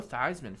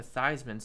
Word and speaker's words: Theismann: think wanted him to change the pronunciation a Theismann so it sounded like Heisman so that people would